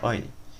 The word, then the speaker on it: Euler: é que é o valor do número de Euler other se chama se escreve eu levasse disso óleo então o percentual de usuários da internet a